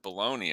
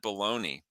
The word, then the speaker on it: bologna: a kid too because the package said b-o-l-o-g-n-a and we called it baloney and i'm like how is that baloney well the well the